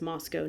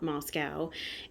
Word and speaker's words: Moscow: about him having just visited moscow it's actually pronounced moscow not moscow and him coming back saying okay we need